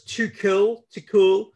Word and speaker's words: Tuchel: Thomas Tuchel. I know how to pronounce his name, but I feel like it's a name that I can muck around with.